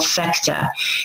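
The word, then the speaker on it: Phecda: They call it the plow here in England, and it is called, the planet is called Fecta, and it's spelled P-H-E-C-D-A, and that is where the Fae come from, okay?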